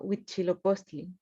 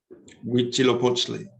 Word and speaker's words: Huitzilopochtli: Quetzalcóatl, El segundo, Huitzilopochtli. Huitzilopochtli. Perfecto, lo pronunciaste mejor que yo.